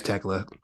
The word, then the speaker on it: Tekla: Yeah, it's Tekla.